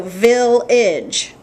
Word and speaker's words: village: So that's why we know that if AGE comes at the end of the word, it's not age, it's idge. So village, garbage.